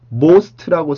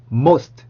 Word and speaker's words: most: 우리 오라는 스펠링을 그냥 우리는 오라고 쓰기 때문에 close라고 쓰죠. 그 다음에 요 단어도 most라고 쓰죠.